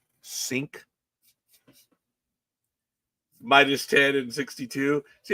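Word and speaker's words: Cink: C I N K C I N K sink minus 10 and 62.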